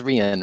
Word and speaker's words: Rhian: that's okay yeah yeah i've been saying rihann but it's rhian right it is yeah okay